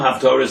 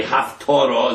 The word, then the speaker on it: Haftorah: By the way, Haftorah is written with a test. Torah is written with a tough, 2 different words, you can't even pronounce them the same.